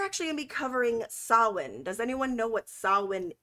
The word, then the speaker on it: Samhain: If I phonetically say Samhain, it's because I'm reading my notes and it's spelt that way, but it is pronounced Samhain.